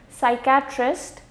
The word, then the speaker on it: psychiatrist: again pneumonia some psychology psychiatrist psychedelic and psychosis in all of these six words the P is going to be silent now when we come